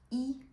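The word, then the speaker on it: 一: a tin of Coca-Cola or a drink that you want to open as well? So, you live in which room? Uh 317. Notice that the character one e is pronounced yo in here.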